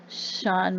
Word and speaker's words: Cian: year old irishman named i guess you would pronounce it sean mclaughlin spelled c-i-a-n went missing and he